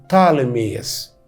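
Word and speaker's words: Ptolemy: المهم ان اسمه اليوناني بطالميوس، وفي اللغات الاجنبيه الحديثه دلوقتي وانت بتتكلم انجليزي يقولوا عليه طالميوس. البي الاولانيه عشان حرفين ساكنين في الاول فما ننطقش البي الاولانيه.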